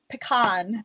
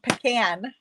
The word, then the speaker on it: pecan: colors and I'm bringing pecan pecan it depends how you pronounce can do you pronounce it Khan or can this here is early